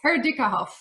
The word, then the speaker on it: Herdieckerhoff: So, for everybody that wants to hear how a German last name is pronounced, that is impossible even for Germans. It's Herikah.